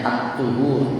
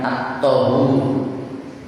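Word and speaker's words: الطُّهُور: Kesucian adduhur satru separuh aliman bacanya atthur bukan att thabhur. Ini seringki bacaan at thaut itu tidak. Yang benar atuh seperti al-wudu bukan al-wadu.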